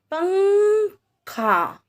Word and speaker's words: पंखा: देखिए, पंखा, अंग की आवाज आ रही है ना इसमें, पंखा।